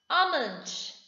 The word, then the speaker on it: almond: Almond, L is silent.